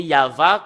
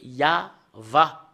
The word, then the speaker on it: Yahvah: Et le fait de le lire selon la Sainte Écriture hébreu, c'est Yava qu'on le prononce. Et vous ne pouvez pas faire une discussion et le contredire que c'est Yava.